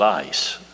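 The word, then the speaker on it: εἰς: it epsilon yota sigma which should pronounce it ice if you will look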